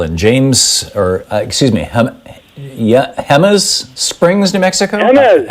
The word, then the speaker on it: Jemez: Jemez.